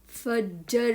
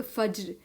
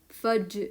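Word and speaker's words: فجر: सूरत फज्र की सूरत फज्र फज्र फज्र उर्दू में कहते हैं लेकिन जब हम अरबी कहेंगे तो फज्र फज्र यहां पर साकिन है इसकी आवाज नहीं होगी फज्र की सूरत फज्र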